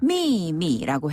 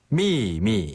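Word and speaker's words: 秘密: 자, 첫 번째 음은 위에서 아래로 뚝 떨어지면서 세게 발음하고요. 네. 두 번째 음은 약하게 발음하면 됩니다. 미미.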